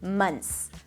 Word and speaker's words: months: now in your tongue, you can drop the TH. You can totally drop it, and it's going to sound just fine. Months, months.